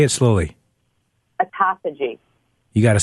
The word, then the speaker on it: autophagy: Autophagy. You got to spell it. I think it's ATOPHOGY. I got to look it up. It sounds like esophagus.